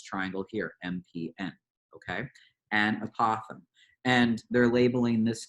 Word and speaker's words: apothem: that is called an apothem it rhymes with Gotham for you batman fans